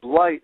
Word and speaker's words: light: word life in light the word light has the GH in it which is silent but normally when you see GH in a word like enough it's an F sound so light is actually